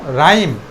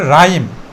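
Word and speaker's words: rhyme: দেখি রাইম কি বলব রাইম এখানে এইচটা সাইলান আটা উচ্চারিত হইতেছে তো আরকে আমরা কি বলব র উচ্চারণ করব যেহেতু এটা প্রথমে আছে তাহলে রাইম রাইম মানে কি কবিতা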